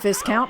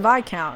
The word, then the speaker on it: Viscount: to pronounce recently not Viscount pronounced by count in the same way that Colonel is not pronounced Colin L despite how it's spelled so perfect that was